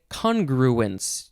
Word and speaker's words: congruence: okay next is congruence you could also say congruence you can emphasize the first or the second syllables it is a noun